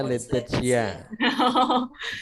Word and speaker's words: Laetitia: Membacanya Laetitia.